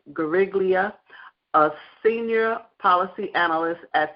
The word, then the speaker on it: Guariglia: I'm going to say G, but I'll spell it Guariglia, Gariglia, a senior policy analyst